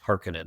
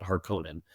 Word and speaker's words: Harkonnen: And we used Frank's as our gold standard — that Frank pronounced it "Harkonnen." So I don't care what the David Lynch movie says. It's "Harkonnen," not “Hark-cone-an."